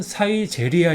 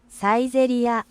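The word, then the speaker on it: サイゼリヤ: 이름 같은 경우는 가득하면 좋겠으니까 어렵지 않죠 이름은 사이제리아 있니다 네이티브 발은 들렸테니까 따라해 주세요 세 번 사이제리아 사이제리아 사이제리아 다음 자는 이것도 영어로 돼 있으니까 어렵지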